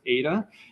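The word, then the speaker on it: eta: with a little tail at the end is pronounced Ada and in Leon BTO he uses this gamma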